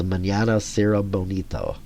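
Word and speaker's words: Mañana Será Bonito: going to even say her I think it's Manana SRA Bonito yeah that's how you say it and Latin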